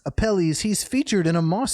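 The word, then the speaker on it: Apelles: I spell it a P E L L E S. Appellis.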